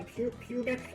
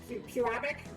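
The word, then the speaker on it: Pewabic: So we have the pubic pottery exhibit. Puabic. Do not miss the middle syllable.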